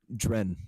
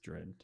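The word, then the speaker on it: Dryn: Dren, yeah. Yes, Dread.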